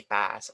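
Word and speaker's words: PaaS: s so in here you can pronounce this one es or is so either plus two but in here it's only pass or sas okay or pass or sass sometimes they skip uh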